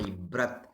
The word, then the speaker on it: breath: I held my breath, not breathe. Breath, correct pronunciation of this word is breath.